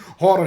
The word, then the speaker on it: Jorge: it the hall here which is George for George English but some reason this thing is written George but they pronounce it in Spanish hor vendura and somehow the